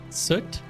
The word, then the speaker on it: soot: Rhymes with foot, not with but.